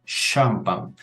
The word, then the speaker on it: champagne: Champagne. Es decir, como si comenzara con una S y una H.